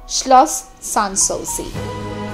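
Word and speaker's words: Schloss Sanssouci: German উচ্চারণ করেন অনেকেই শ্লস সানসৌসি।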